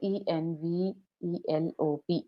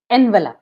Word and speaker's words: envelope: verb we have here e n v e l o p e okay so we often pronounced it as envelope but it is not envelop it is envelope envelope envelope yes M ma'am but